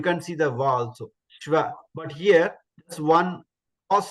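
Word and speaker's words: श्व: Shva. So shva is sh plus va. Adhigam va. Sh plus va. Shva.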